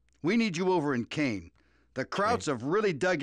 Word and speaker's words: Caen: Well, okay, so we get to go to Caen, or Khan. I'm sure it's Khan, the correct pronunciation, so yeah, there, take that.